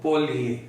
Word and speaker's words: polje: सकते हैं, ये देखिए, ये ऐसे लिखा जाता है POLJE, लेकिन ये जो आपकी लैटिन भाषाएं हैं, जैसे स्पेनिश है, पोर्चुगीज है, फ्रेंच है, इनमें ज को य प्रोनाउंस करते हैं। तो पोलिए, पोलिए कास्ट क्षेत्र में